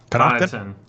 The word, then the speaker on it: Connaughton: You turn Andrew Wiggins and Pat Connaughton. Am I saying that right? Connaughton. Yeah, on the Bucks, yeah. Okay, yeah. Pat. from the Bucks. That Silent T that's crazy.